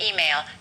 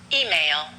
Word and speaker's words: email: to your email and let's stress the e an email email or you can say